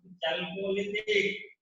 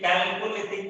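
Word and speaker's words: Chalcolithic: ताम्र पाषाण काल, चैल्कोलिथिक, चैल्कोलिथिक, कैल्कोलिथिक भी कहिए आप, प्रोनाउंसिएशन।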